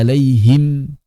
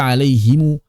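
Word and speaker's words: عليهم: Maka tetap saat waqaf dibaca sukunatzina anamta alaihim tidak dibaca alaihimu.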